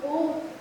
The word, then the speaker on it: ओम: ओम का उच्चारण 3 अक्षर अ, उ और म से मिलकर बना।